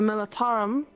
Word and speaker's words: Militarum: I mean, for the Militarum, right? That's how you pronounce it.